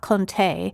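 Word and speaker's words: Conté: So sometime in the late 1700s, a French chemist named Nicholas Jacqu Conte, that's C O N T E with an accent on the E, figured out that you could mix graphite powder with clay to make it more stable.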